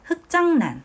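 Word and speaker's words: 흙장난: 자, 흑장난. 흑장난. 선생님이 읽어 보니까 흑으로 발음이 나네요.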